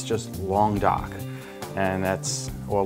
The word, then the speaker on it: Languedoc: on here Laing would die okay it's just long doc and that's or a long duck which is the way it's pronounced and this is a combination of three